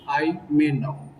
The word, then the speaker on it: Ayemenem: Just forget about the spelling of the word. Just think about the pronunciation of the word Imenam.